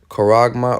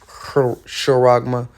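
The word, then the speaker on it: χάραγμα: it's not spiritual okay the Greek word is coragma or shoragma however you want to pronounce it all right a stamp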